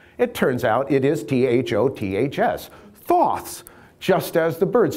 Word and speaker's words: Thoth: Because lo and behold, this figure here is Thoth, pronounced Taut, but for our purposes, Thoth, because it turns out, 10